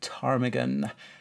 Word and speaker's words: ptarmigan: family native to Scotland the ptarmigan with a silent P is a member of